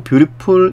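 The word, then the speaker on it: beautiful: 뷰티 프 뮤우 풀 보통 뷰리풀 이라고 훨씬 더 발음 하죠 훨씬 더 발음을 많이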